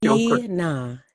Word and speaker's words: Tnah: so I can addressa Tina Tina Tina I don't have an ey in my name okay okay now I